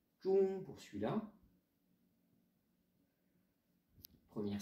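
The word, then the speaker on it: 中: On le verra plus tard, ce caractère, l'étymologie, mais ça va se prononcer. Zhong pour celui-là, première syllabe, premier caractère, et Guo, le pays, l'empire du milieu, la Chine.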